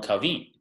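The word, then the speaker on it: Cauvin: Calvin is a Frenchman his name is actually John John Kavi if he wanted to say it correctly well are close to correctly I'm sure a Frenchman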